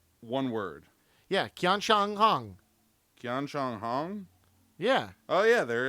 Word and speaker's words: Qianshanhong: There's no U behind it, so it's not a qua. It's a kia.